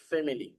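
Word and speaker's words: family: five people in মাই ফ্যামিলি ফ্যামিলি এটার উচ্চারণ হচ্ছে ফ্যামিলি ঠিক আছে এটার উচ্চারণটা আই এর উচ্চারণটা আসে না অনেক ক্ষেত্রে নেটিভরা এটা উচ্চারণ করেন আর কি সেটা বলে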